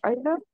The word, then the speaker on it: einer: Alors, on prononce pas le R en allemand comme ça, mais c'est bien pour te donner la bonne terminaison. Mais il y a Einer. un R, il y a un R quelque part dans ein. Voilà, ouais, c'est Einer. Einer, mais c'est juste qu'on ne prononce pas le R de la même façon.